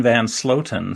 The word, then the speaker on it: Van Sloten: didn't I uh I didn't hear it as mispronounced so it is Van sloten so I think you nailed it okay fantastic